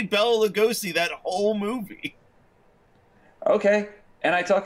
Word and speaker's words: Lugosi: How do you pronounce that last name? Lugosi? I think it's Lugosi. It is Lugosi.